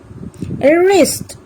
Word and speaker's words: wrist: let's find out some other words where W is silent wrong wrist right whole to answer wrapper sword এই শব্দবিলাকত